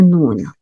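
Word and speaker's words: نون: On ne peut pas dire nou, non. On doit dire noun, wal qalami.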